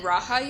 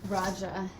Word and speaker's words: Raja: And then Raha yoga? Raja. Raja.